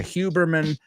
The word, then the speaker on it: Huberman: The podcast is Huberman Lab, con H-U, Huberman, pero se pronuncia Huberman Lab.